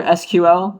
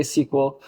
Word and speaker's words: SQL: So it's legitimately pronounced either SQL, that you say out the words, or you say SQL.